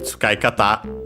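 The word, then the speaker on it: 使い方: And so yeah, literally tsukai kata. By the way, luckily it is in the online dictionary plus plugin combo. It's unaccented.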